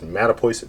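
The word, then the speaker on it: Mattapoisett: case anybody's been wondering how the heck you pronounce that crazy uh name that is mata poison massachusetts and we are a seacoast town in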